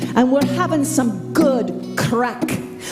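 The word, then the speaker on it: craic: we're having some good crack okay crack is different in Ireland than it is here in the United States it's it's spelled c-r-a-i-c and it means good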